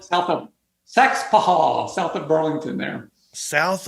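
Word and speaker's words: Saxapahaw: S A X A P A H A W. But we don't pronounce all the consonants or we we leave a few of the syllables out.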